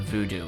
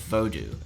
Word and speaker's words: Vodou: Voodoo is a derogatory mispronunciation of Vodou, a religion formed in Haiti around 500 years ago.